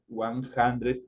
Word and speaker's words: hundred: en momento de pronunciar es como que estuviera ahí una J por eso dice one hundred solo el momento de